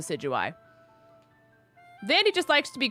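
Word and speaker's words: Decidueye: Uh so Vandy calls it decadooi. It is 100% like called the sigui.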